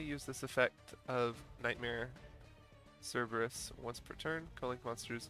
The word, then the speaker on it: Cerberus: on to our links nightmare Cerberus or kerberus if you're into the ancient Greek pronunciation uh if this card